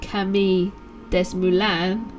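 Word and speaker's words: Camille Desmoulins: a young lawyer called camille uh des moines it's probably pronounced kami des mulan picked up a linden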